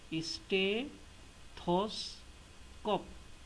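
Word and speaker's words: stethoscope: হবে যে এটা কোনো স্টেথোস্কোপ। এটাকে আমরা ভেঙে ভেঙে যদি উচ্চারণ করি তাহলে আমরা প্রথমে বলবো স্টে, তারপরে বলবো থস, তারপরে বলবো কোপ। তাহলে কি হলো? স্টে থস কোপ। এবার দ্রুত বলি, স্টেথোস্কোপ।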